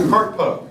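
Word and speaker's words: CRTPO: We have CARTPO.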